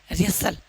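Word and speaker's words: wrestle: Silent. रेसल।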